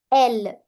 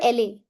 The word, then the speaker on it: elle: Elle. Elle. Never elle a. No. Elle.